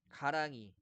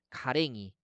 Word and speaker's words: 가랑이: 왼쪽에 덤터기, 아지, 랑이 이렇게 나와 있는데 이런 단어들의 이모음 역행동화를 적용해 가지고요. 가랭이, 건데기, 덤태기, 아지, 랭이 이렇게 잘못 발음하고 쓰는 경우가 많은데 다 틀린 말이에요.